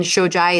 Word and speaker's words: Shojaee: But so then Shojaee, it's Shojaee on Instagram.